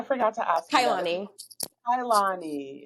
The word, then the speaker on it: Kauilani: when my dad saw the name, he switched the I and the U. So now it's a whole bunch of vowels. Everybody's just like, "Well, how do I pronounce that?" Yes. It's Kailani.